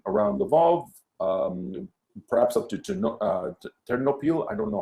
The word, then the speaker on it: Ternopil: piece of Ukraine around Lvov, perhaps up to Ternopil, I don't know how to pronounce it properly. Please excuse me if I'm Ternopil, yeah.